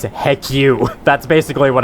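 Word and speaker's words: HECU: combat unit or hcu which when pronounced says heck you that's basically what it's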